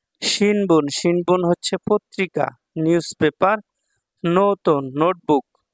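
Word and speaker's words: ノート: শিনবুন হচ্ছে পত্রিকা newspaper নোতন notebook নোতো দেখেন এখানে একটা টান আছে হ্যাঁ এজন্য এভাবে পড়তে হবে নোতো টানের সামনের বর্ণটা একটু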